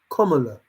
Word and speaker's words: Kamala: And for you to be upset, well, I've seen something that says Kamala. That's how you have to say her name. Kamala. It's written down. So when these news reporters or whatever read it, it's written down that you say Kamala.